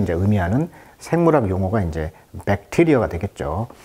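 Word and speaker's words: bacteria: 그래서 이제 세균을 이제 의미하는 생물학 용어가 이제 백테리어가 되겠죠. 강세가 이음절했습니다. 그래서 백테리어 이렇게 나와 있네요.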